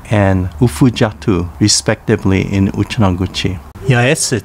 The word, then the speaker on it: Yaese: Yaese Town, pronounced Yeese in Uchinaguchi, was formed in 2006 with the merger of two towns, Kochinda and Gushikami, pronounced Kuchinda and Gushichang, respectively, in Uchinaguchi.